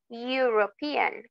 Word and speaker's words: European: esas esas esos nouns european unit Union Okay Aunque comiencen con una vocal el sonido o la pronunciación es con una consonante european Union unit Okay ahí